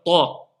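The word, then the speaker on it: طاء: Pareil, le Ta. C'est pas comme le Ta. Le Ta, il est emphasé.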